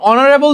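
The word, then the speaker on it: honourable: দেখলা আমি তোমাদের বলছিলাম এটা যদি উচ্চারণ কর এটা হয় যে অনারেবলঅনারেবল তোমরা অনেকে কি করবা জান অনেকে চোখ বন্ধ করে এর আগে এন বসা দিবা তোমাদের যে টেন্ডেন্সি আমি বলি এখানে কিন্তু এন হবে না ঠিক আছে কেন এন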